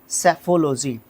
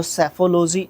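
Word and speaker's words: psephology: एंसटिटाइट को बोलते हैं सेफोलॉजी जब भी पी के बाद एस आएगा उसमें पी को प्रोनाउंस नहीं करते हैं तो सेफोलॉजी इसको बोलते हैं एल ओजी वाई एंडिंग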